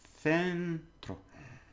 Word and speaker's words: centro: Remember C before an E is th. So, centro. Tro. Because it's O. Okay. Centro. C-E-N. Centro.